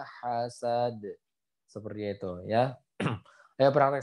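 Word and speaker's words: حَسَدْ: Dan terakhir adalah huruf dal yang sukun karena waqaf dia harus dipantulkan. Jadi bacanya wa min syarri hasidin idza hasad.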